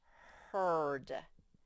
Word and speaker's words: heard: it controls these two all of a sudden they say nothing and this says heard you see the h r and d are the only ones that make sounds because the r controlled these two to make them say nothing heard different from this one